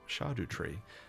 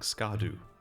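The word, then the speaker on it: Scadutree: So, this is a shadow tree and it's pronounced shardu tree or shadow tree. I guess that's fine as well. Makes sense. It sounds a lot better than saying scardoo all the time.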